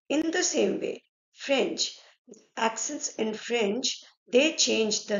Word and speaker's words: accent: Now, let's see first that how many accents are there in French. Okay. Okay. So, there are five accents in French. How we pronounce the word accent in French is accent.